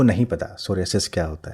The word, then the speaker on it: सोरियासिस: लिया है doctor Gupta, सोरियासिस, जिसको कुछ लोग सोराइसिस भी बोलते हैं, अलग अलग शायद प्रोनाउंसिएशन है, वो आप ज़्यादा बेहतर बताएंगी। मैं क्या बोलूँ, सोराइसिस या सोरियासिस? सोरियासिस, ठीक।